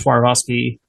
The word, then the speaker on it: Swarovski: One of the I don't know how to say it, Swarovski crystal castle. Swarovski, yeah.